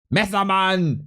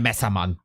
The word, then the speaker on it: Messerman: Messermann! There we go. Let's please Neo. Even without Prime. Role model. Absolute role model. Der Messermann. It's actually Messerman. I pronounced this wrong.